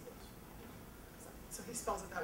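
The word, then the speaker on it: Joost: His real name is Yoast, J-O-O-S-T, you know, but people pronounce it Yoast.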